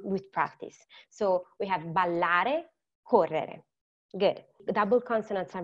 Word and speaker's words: ballare: So Italian has a lot of doubles. You must pronounce them. And so when you pronounce them, just extend the sound while holding the breath for a moment. I know that it sounds difficult, but it's not.